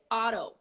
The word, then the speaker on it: auto: in English we say Auto so you go auto pilot automatic automobile not autopilot automatic automobile Auto the T becomes an R when you pronounce it more an American uh style and a